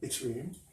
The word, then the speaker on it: yttrium: Let's take a break, and we'll return to our yttrium correct pronunciation, yttrium.